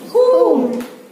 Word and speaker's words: whom: இந்த இடத்துல W is silent. இப்ப ரீட் பண்ணி பாருங்க. Who, whom, whose.